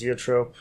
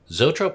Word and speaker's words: zoetrope: I'd like to do, how's it pronounced? Zeotrope? Oh, Zoetrope?